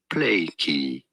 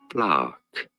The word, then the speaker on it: plaque: No, it is not to be said plaky, but rather, more simply, plaque.